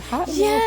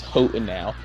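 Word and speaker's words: Hotenow: all of these now until they said it in the game I was like hot now sounds I mean it's a fiery Mountain so hot in now I was like hey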